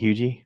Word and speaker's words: Huger: It's Huger. How you? Well, But the people who live there it's pronounce actually it Hugie. It's spelled Hugger, yes.